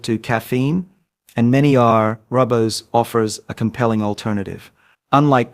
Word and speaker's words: Rooibos: Rooibos, pronounced Rooibos, is a naturally caffeine-free herbal infusion made from the leaves of the Aspalathus linearis plant native to South Africa.